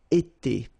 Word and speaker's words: été: itself every time, and it's pronounced like été, été. All right, so j'ai été, tu as été, il a été, elle a été.